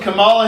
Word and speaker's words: Kamala: So we watched Kamala Harris.